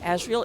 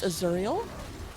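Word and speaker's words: Auriel: I keep saying Azrael, it's Azuriel. So, my apologies.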